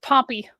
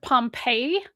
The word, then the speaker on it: Pompey: the Great, decades before Pompey's capture of Judea. Oh, Pompey. Sorry, my brain. I heard Pompeii as in the city, and then I had to immediately go, no, Pompey, the guy.